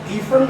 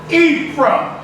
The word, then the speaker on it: Ephraim: Ephraim means, it's Ephraim. That's the right way. It's not Ephraim. It's Ephraim. This is the right way to pronounce this. Ephraim. Eam is plural, so that means double fruit.